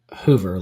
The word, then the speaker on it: Hoover: Hoover. Like Hoover Alabama.